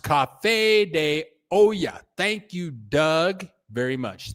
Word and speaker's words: Café de Olla: Doug, it is pronounced Café de Olla.